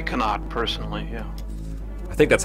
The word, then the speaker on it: Connaught: I say Connaught, personally, yeah.